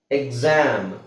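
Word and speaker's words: exam: ಎಕ್ಸಾಮ್ ಇದೆ ಅಂತ ಹೇಳ್ತೀವಿ ನೀವು ಎಕ್ಸಾಮ್ ಅಂತ ಯಾವತ್ತಾದ್ರೂ ನೋಡಿದೀರಾ ಇದು x ಇದೆ ಇಲ್ಲಿ ಜಿ ಬರ್ತಾ ಇದೆ zೆಡ್ ಬರ್ತಾ ಇದೆ ಯಾವತ್ತಾದ್ರೂ ನೀವು ಅಬ್ಸರ್ವ್ ಮಾಡಿದ್ದೀರಾ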